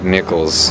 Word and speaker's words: Nikels: His name is Art Nikels. Nikels with no C. Nikels, just a K. Yeah, K-E-L-S, yeah.